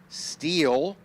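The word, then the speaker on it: Stihl: Car Driving Association, SEDA, Steel Power Equipment, that's ST I L pronounced Steel, Tense Unlimited, Hulie, Toyot Tires, VP Racing Fuels, The Whiteart, and Women in Motorsports North America.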